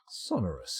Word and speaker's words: sonorous: But, sonorous, here we go.